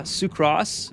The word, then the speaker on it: sucrose: Sucro Sucross rhymes with gross.